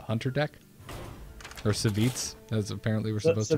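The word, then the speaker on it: Savjz: frustrated with breaking out of the tens, was Savage's Hunter deck. Or Savits, as apparently we're supposed to be calling it. Yeah, it's pronounced Savits.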